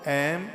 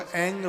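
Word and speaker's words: ऐं: ओम ऐम ह्रीम क्लीम चामुंडाई विच्चई। बहुत लोग इसको एंग बोलते हैं। वो बोलेंगे ओम एंग ह्रीम क्लीम चामुंडाई विच्चई। शुद्ध उच्चारण इसका यही है, ओम ऐम ह्रीम क्लीम चामुंडाई विच्चई।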